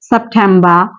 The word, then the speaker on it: September: তারপর এটার ক্ষেত্রে আরেকটা বিষয় আছে, সেটা হচ্ছে শব্দের শেষে যদি আর থাকে তাহলে সেই আরটা আমরা উচ্চারণ করব না।